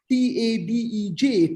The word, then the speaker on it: Tadej: Tadej Pogačar, T-A-D-E-J, Tadej. Pogačar, actually, not Pogačar in the pronunciation.